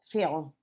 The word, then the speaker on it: film: Then a romance film. Very good. An action film is more exciting than a romance film. Very good. Because la última palabra film. Film. Y pronunciame esa M al final.